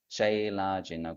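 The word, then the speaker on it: चैलाजिन: So when there is C in Sanskrit, you pronounce that as cha, not ka. So it will be chailajina kushotaram.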